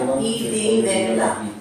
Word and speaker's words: idinela: So same thing, like idinela. So everything is equal in that word.